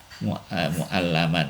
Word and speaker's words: mu'allaman: Mu'alliman wal lisanu kana mu'allaman ya, yang diajari. Ini bedanya, ini tulisannya sama tapi ini bacanya beda ya. Kalau mu'alliman itu guru, kalau mu'allaman yang diajari kalau nggak salah.